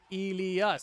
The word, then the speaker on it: Elas: The Dutch are telling me how to say his name. Elas. See, that's how you say it, chat.